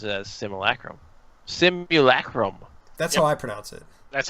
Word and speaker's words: simulacrum: wanted to point something out yes Webster's Webster's pronounces a simulacrum symbol a Chromebook that's how I pronounce it that's how I